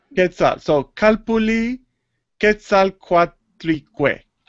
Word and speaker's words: Quetzal: And the first part is Quetzal or Chetzal? Quetzal. Quetzal.